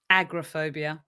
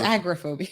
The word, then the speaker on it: agoraphobia: but talking about agoraphobia say it right agrophobia i think it's agoraphobia okay agriphobia the fear